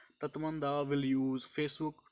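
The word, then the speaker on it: Tatmadaw: Question number 3 इज तत्मंदा, इसे ऐसे pronounce करते हैं, तत्मंदा will use Facebook to counter miss information.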